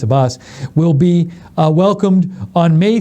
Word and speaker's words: Abbas: Sean Spicer also announced that the Palestinian president, Mahmoud Abbas, I think it's Mahmoud Abbas, I'm pronouncing the first name right, I know it's Abbas, will be welcomed on May 3rd at the White House.